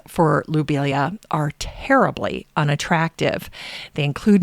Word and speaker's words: lobelia: Now, before researching Matthias, I pronounced lobelia as lobelia. But now, knowing the French pronunciation of his name, I will say it lobelia. It's a subtle change, lo versus lu.